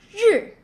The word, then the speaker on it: 日: Okay, so when you add R, just simply voice it. Feel the vibration on your vocal cord. Zh, zh, zh. Jacques, Asia, and measure, zh, zh.